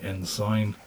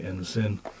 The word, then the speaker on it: Ensign: comments about uh pronunciation I believe in the UK one is meant to say n sign and in the US One tends to say n sin um but there we